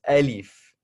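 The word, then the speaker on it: ألف: So this right here is alif, alif, okay? So if you want a spell out of how that is spelled out, A, L, I, F.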